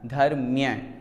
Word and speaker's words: धर्म्य: एक बात यहाँ पर उच्चारण में ध्यान दें, बहुत से लोग धर्म ध्यान बोलते हैं। धर्म ध्यान नहीं होता, धर्म्य ध्यान होता है, धर्म्य ऐसा हम उच्चारण करें।